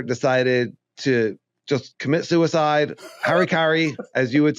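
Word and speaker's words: hara-kiri: Harry Kari, as you would say in Japanese, how do you say it? You say it sounds cooler when you say it. Haraki.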